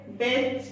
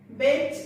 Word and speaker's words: বেচা: বেচ একাক্ষর ধাতুর সঙ্গে আ প্রত্যয় যুক্ত হয়ে তৈরি হয়েছে বেচা শব্দটি, তাই বেচা শব্দের একারের মতো উচ্চারিত হবে।